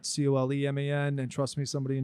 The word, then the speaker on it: Kolman: And I was like, well, it sounds the same, but it's spelled different, so I think we'll be okay.